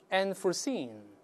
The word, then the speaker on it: unforeseen: 的、哎、注意这个音节在 seen 这个音节是重读、啊、未